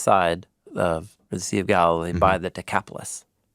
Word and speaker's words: Galilee: beside the Sea of Galileas. Oh, sorry, that's my translation. Galilee. Galilee. Yeah. Okay. Yeah. I'm trying to preserve in the translation the Greek pronunciation of all these people and places.